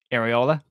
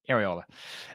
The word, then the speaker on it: Iraola: to discuss um are and only as it's pronounced areola and only areola um who is currently the manager and head